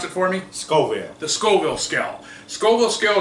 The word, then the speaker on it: Scoville: And what I wanted to explain to you today real quick was the Scoville, pronounce it for me? Scoville.